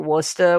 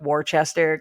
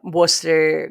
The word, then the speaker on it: Worcester: super easy the names out there yeah Gloucester Worcester which is spelled like warchester glass Chester I just discovered the other day